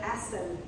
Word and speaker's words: Asel: We're doing chunks from Zeyl Asel, A-S-E-L. Careful with your pronunciation.